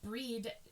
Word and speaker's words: Brigid: It is centered around the triple goddess form of Bridget, or Breed, pronounced Breed in the Celtic.